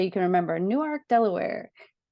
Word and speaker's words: Newark: So I live in Newark, Delaware, which is spelled like Newark, New Jersey, but it's actually Newark because when they made the